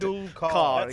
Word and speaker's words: Tendulkar: Do you remember how he pronounced Sachin Tendulkar? Suchin, wasn't it? Sushin Tendul, something like that. I can't imitate it. Tendulkar.